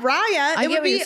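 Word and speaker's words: Raya: met on reaya yeah and how do you say it Rya Rya I have no idea it's spelled r a y a I've heard both so I'm not sure okay so eron you say Rya but Rya would be Rya what Rya would be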